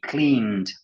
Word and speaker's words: cleaned: We cleaned. Un D.